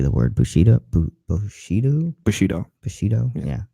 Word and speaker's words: Bushido: How do you say the word Bushido?